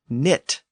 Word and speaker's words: knit: The Anglo-Saxons also gave us the word knit, which comes from the same root as the word knot. And that silent K at the beginning of knit and knot was actually pronounced in Old English, and that's why it's still there in modern English.